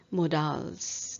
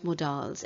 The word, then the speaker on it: modals: the pronunciation of m-o-d-a-l-s it's not modals i'm very sorry to say i have heard people speaking it as models today we've learned modals it's not the correct pronunciation it's modals okay please don't mind